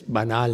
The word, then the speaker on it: banal: I like banal because it's like close to the French original pronunciation.